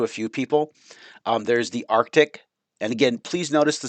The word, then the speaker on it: Arctic: We usually pronounce it Arctic. Like I usually say Arctic, and I don't pronounce that middle C. There's probably reasons linguistically why most people don't pronounce that middle C, but there is a C in the word. And so it is Arctic, Arctic, not Artic.